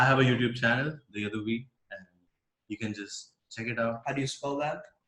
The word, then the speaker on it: Yadhuvir: And I have a YouTube channel, the Yadhuvir, and you can just check it out. how do you spell that?